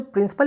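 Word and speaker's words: principal: तो जो प्रिंसिपल export है वो क्या है, ब्राज़ील का जो प्रिंसिपल एक्सपोर्ट क्या है वो है कॉफ़ी।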